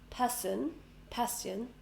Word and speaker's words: passion: So the 2 together, we don't say passion. It's a sh sound. Sh. Passion.